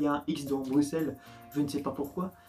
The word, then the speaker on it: Bruxelles: de la ville de bruxelles alors je viens je viens comprendre qu'il ya x dedans mais ce n'est pas bruxelles c'est bruxelles alors me posais pas pourquoi il ya un hic ce dont bruxelles je ne sais pas